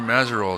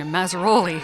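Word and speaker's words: Mazerolle: of her name, and she says often people want to add that, want to pronounce that E on the end, Mazzaroli. She says it's not Italian.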